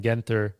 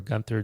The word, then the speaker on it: Guentzel: You know, like even their stars like Keller and Guentzel or Genzel, depending on how you want to pronounce it.